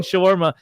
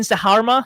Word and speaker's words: shawarma: Or the chicken shawarma. We'll get the chicken saharma.